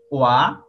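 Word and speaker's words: は: আর একটা ওয়ার্ড দেখেন, বলা হচ্ছে ওয়াতাশি ওয়া ইঞ্জিনিয়া দেশ। ইঞ্জিনিয়া মানে ইঞ্জিনিয়ার, তাহলে ওয়াতাশি মানে আমি, ওয়া মানে হই, আমি হই, নাউনের পরে হা বসলে হায়ের উচ্চারণ ওয়া হয়ে যায়, তাহলে ওয়াতাশি ওয়া, আমি হই ইঞ্জিনিয়ার।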